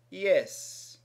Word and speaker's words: IHS: The H in Greek is commonly pronounced as an E sound, held longer. Ita. Ita. So quite simply, IHS can be pronounced yes.